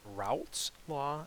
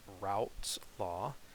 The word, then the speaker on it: Raoult's law: lowered is called uh raoult's law and i think i'm pronouncing that correctly if you anyone knows a better pronunciation feel free to let me know but route's law describes vapor pressuring and